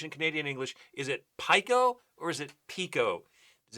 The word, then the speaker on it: Pico: pronunciation I don't know it makes sense because the I is pronounced e that's how you pronounce it so it would be Pico but is it in